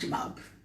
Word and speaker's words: chabab: It's pronounced chabab.